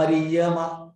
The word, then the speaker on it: अर्यमा: फिर पितृणाम अर्यमा, पितृणाम अर्यमा ऐसे होता है उच्चारण, पितृणाम अर्यमा चास्मि, पितृणाम अर्यमा।